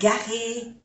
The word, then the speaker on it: garée: La voiture est garée, no se pronuncia esta E, garée devant le bâtiment.